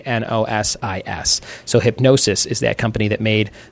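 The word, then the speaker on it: Hipgnosis: would be let's see it says pronounced like hypnosis so it's hypnosis but it's spelled H IP g and OS is so hypnosis is that company that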